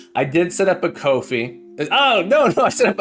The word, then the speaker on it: Ko-fi: Kofi instead of coffee. Kofi.